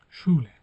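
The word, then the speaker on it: Schule: Şule okul demek. E neden burada ş diye okudunuz? S var. E var. SCH kelimesi yan yana geldiğinde harfleri şey olarak okunuyor.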